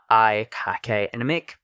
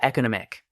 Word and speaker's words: economic: You can say either economic or economic for both words. I personally prefer the /e sound, but both are correct.